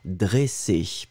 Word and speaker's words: dressé: Nous étions à la recherche du premier ici, dressé, d'accord ?